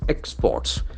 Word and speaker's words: export: export it's export if if it is a verb it's action force on the second syllable here we start with the Expo artist so it must be a noun export export so the action must be in the first syllable export export export deep